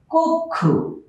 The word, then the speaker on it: কক্ষ: আমরা যদি লিখি কক্ষ, উচ্চারণ হবে কক্ষ। এখানে ক উচ্চারণ করতে গেলে একটা অ চলে আসে, ক একটা অ চলে আসে আর তার পরবর্তী বর্ণ ক্ষীয়, যার কারণে এই অটা এখানে ওকারে পরিণত হয়েছে আর ক্ষীয় ভেঙে ক এবং খ হয়েছে, যে নিয়মটা ইতিপূর্বে আমরা দেখাইছি।